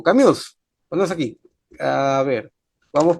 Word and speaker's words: Camus: A ver, Heidegger, está también Sartre, como le llaman algunos, Sartre, está también Albert Camus, o Camus, en la pronunciación francés, y está también Jasper, un filósofo alemán también existencialista.